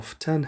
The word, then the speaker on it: often: دوستای عزیز اگر این کلمه را often هم تلفظ بکنین درست است.